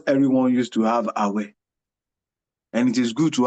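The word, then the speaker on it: Awẹ: Awe. We call it Awe. Awe. Okay. Awe, let me spell it.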